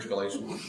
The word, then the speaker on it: Galatians: Is that how you say it here? Galatians? Yes.